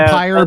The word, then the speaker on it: Vampyr: It's still yeah, vampire, but I that's call the it one- vampire because of the way it's spelled.